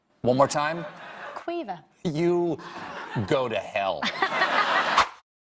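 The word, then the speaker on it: Caoimhe: There's a lot of vowels in that name. Quiva. One more time? Quiva.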